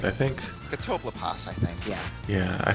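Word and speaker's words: Catoblepas: But actually, when I went back to fight Carbuncle and Katobapas, if you weren't wondering how to pronounce that, I just pronounced it for you.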